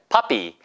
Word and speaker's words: puppy: 얘도 puppy라고 하는 발음으로 써 있지만 실제 들리는 발음은 Hey, this is my puppy. This is my puppy. 이게 더 힘들다고요. 왜? 앞에 액센트를 주기 때문에 같은 강한 소리가 와야 걔랑 대등한 어떤 밸런스를 이루기 때문에 그렇다.